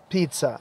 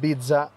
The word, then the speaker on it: pizza: isn't a pizza stand we pronounce it pizza not bida bida an Arabic in English pizza there isn't a pizza